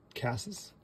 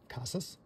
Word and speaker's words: Casas: out of 250 so there you go another casses Casas I learn to pronounce his name correctly all right the another